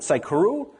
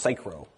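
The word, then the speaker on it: Saikuro: you'll have fogg fle cychro I used to pronounce it cyuru but then I was told that it's actually a joke about cyclomatic complexity and supposed to be pronounced cyro Anyway, um, Reek, Rails stats, Rails best practices, archov, and churn.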